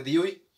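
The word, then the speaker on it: Dewey: pedagogo estadounidense donde hoy se escribe the way pero se escribe se oye muy feo y se pronuncia de hoy él hablaba acerca del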